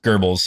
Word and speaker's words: Goebbels: Goebbels. That's how you pronounce Goebbels.